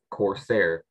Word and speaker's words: corsair: have all the information the word is Corsair that is the only pronunciation it is a noun